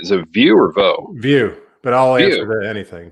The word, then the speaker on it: Vieaux: View, but I'll answer View.